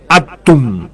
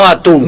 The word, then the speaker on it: atum: Sì, proprio atomo in piemontese sale atum. Atum. Con l'accento la atum. No atún.